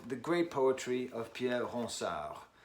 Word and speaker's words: Ronsard: great poetry of Pierre Ronsard. That's Ronsard, if you're pronouncing that in an English way.